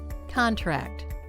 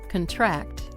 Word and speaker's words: contract: Contract. That's a noun. Contract. That's the verb, but they're spelled exactly the same.